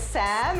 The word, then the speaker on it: Sam: My name is Sam, it rhymes with ham.